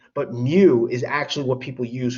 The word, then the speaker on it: mu: tail on it it's called mu it's actually pronounced as mu that's what i'm trying to show you by